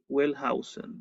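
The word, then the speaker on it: Wellhausen: Julius Whausen se escribe w E h. Welhausen, ¿verdad?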